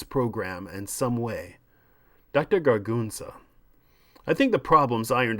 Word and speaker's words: Gargunza: Gargunza, Dr. Fabian. It's only 3 syllables.